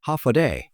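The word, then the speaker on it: Håfa adai: H-fa-adai, pronounced hafade.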